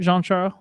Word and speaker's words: Jean-Charles: Or do you not pronounce the S on Jean-Charles? Yeah, I don't pronounce it, but I think that's just me being hoity-toity.